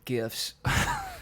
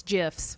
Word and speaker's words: GIF: I want to see more of that and less Joker gifts. Yeah. That's not how you pronounce it. It's GIFs.